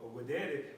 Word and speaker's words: videre: All right, with the V, but it's pronounced videre, which means to see.